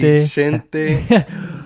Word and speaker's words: Vicente: Vicente.